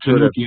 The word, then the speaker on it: Tanuki: he's doing, the new Tanaki, what is it, Tanaki, I think is what he's calling those figures. I pronounce it Tanuki. Anime. Yeah, I think you're saying it right.